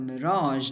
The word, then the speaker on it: mirage: Remember, keep the J sound in Mirage.